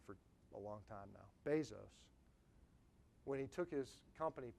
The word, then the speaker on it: Bezos: So it was May 15th, 1997, is when Jeff Bezos, I've been saying his name wrong for a long time now, Bezos, when he took his company public.